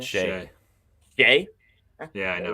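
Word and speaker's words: Skjei: Steven Stamkos, Brady Skeege. Is that how you say it? Skeege? Is that it? Shay.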